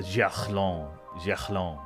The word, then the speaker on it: Gerland: of French guys, and they were trying to get me to say like Stade de Gerland, you know, like Stade de Gerland, Gerland. That's how you say it.